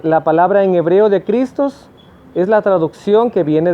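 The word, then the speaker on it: Χριστός: la parte del hebreo en griego la palabra cristo se escribe así que se pronuncia cristos y tiene un significado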